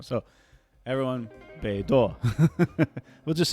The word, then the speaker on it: BeiDou: an announcement on the Beidou... It's beidou. Shoot, beidou. It's not Baidu. It's beidou. Sorry. This whole article, I've been saying Baidu. It's not Baidu, the search engine.